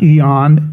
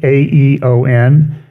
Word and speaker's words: aeon: always a big controversy he said eat a dark Eon or dark dark aeon and he always says well it's not East it's not Aesop's Fables it's esop's fables and